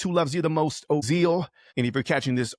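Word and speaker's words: Ozeal: Make sure you subscribe on the YouTube channel by following Ozal. O Z E A L rhymes with zeal, rhymes with the real deal. Ozal, you can't be like, Evander Holyfield.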